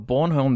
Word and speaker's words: Bornholm: B-O-R-N, like baby being born. Born. Then H-O-L-M. Bornholm. Bornholm.